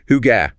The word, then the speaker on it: hygge: The sources talked about that Danish concept, hygge. Hygge. Pronounced hygge.